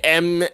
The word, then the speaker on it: Murteene: It should be Murteene. And 2 E's. Murteene. That's how you say it. That's how you would spell it.